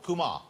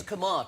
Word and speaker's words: Kumar: Nish, am I saying I'm saying Kumar. Is that right? It's not Kumar. It's Kumar, technically.